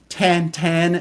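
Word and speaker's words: Tintin: character out of France James we would know him as tin 10 tantan as he would be pronounced by his creator her that's one of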